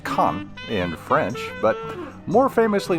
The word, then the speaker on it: Cannes: Even the flea markets are glitzy in Cannes, pronounced Cannes in French, but more famously known for its film festival.